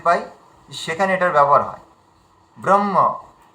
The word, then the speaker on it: ব্রহ্ম: কিন্তু একদম ভুল। যেমনভাবে আছে সংস্কৃত যেমন ভাবে আছে তেমনভাবে উচ্চারণ করো। ব্রহ ম্রহ এভাবে যেন উচ্চারণ করি। ব্রহ্ম হ যেন এমন উচ্চারণ না করি। ব্রহ্ম যেন না বলি ব্রহ্ম